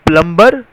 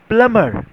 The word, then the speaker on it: plumber: Did you pronounce plumber? No, it's not plumber. It is pronounced as plumber. Yes, you heard me right. It is pronounced as plumber and not plumber.